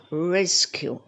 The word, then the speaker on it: rescue: the next one is rescue just see where is the stress re re re skew two syllable and the stress on the first one res skew next one